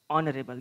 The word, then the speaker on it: honorable: remember and mind that h is silent there honorable this is not honorable